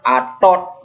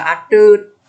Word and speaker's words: Atut: ada mulut ini bacanya ini bacanya Atot Atot ini gak ada Atot yang ada Atut kalau Atut tulisannya seperti